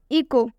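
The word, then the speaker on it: echo: H silent होता है इको इको में भी एच के बाद से ओ आ रहा है इसलिए हम इको में एच को साइलेंट करेंगे इको में एच नहीं पढ़ेंगे अगर इको में एच आप पढ़ते हैं बिल्कुल उच्चारण हो जाएगा इसे हम इ चो नहीं पढ़ेंगे इसे हम इको पढ़ेंगे क्योंकि इसमें एच साइलेंट होता है इको का मतलब होता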